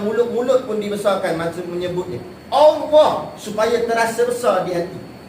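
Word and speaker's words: الله: Dan kemudian hebatnya nama Allah ini dibaca dengan istiqlaq. Istiqlaq ni maksudnya dibaca dengan bacaan tebal, Allah.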